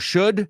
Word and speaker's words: should: Y fijaos, should, la L lo pronuncio como would, como could.